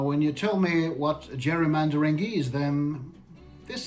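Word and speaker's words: gerrymandering: Jackson Pao there you go how do you pronounce that I don't even know what that is Jerry Jerry mandering Jerry mandering the art of drawing districts to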